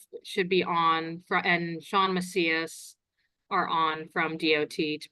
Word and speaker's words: Macias: Sean, is that how you pronounce it, Sean? Okay, Macias, yes.